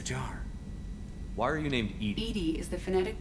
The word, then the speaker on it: EDI: airlock is a jar why are you named Edie is the phonetic pronunciation of e i it's an acronym for